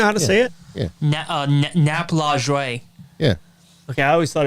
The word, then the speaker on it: Lajoie: Lajoie is the way you say it.